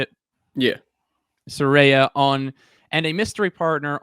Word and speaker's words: Saraya: Saraya on and a mystery partner on January 11th, I believe, on that episode of Dynamite in Los Angeles.